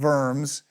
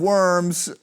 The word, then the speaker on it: Worms: The Diet of, it's spelled Worms. You're supposed to say it with the V, the Diet of Worms, but the Diet of